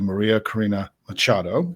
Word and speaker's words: María Corina Machado: Venezuela who I'm going to try now to pronounce her name correctly, Maria Karina Machado.